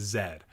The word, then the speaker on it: zed: And yes, the proper pronunciation is zed.